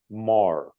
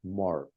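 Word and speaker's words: Meagher: attention to this is Sylvia Mah that's how her name is pronounced Mar a research analyst at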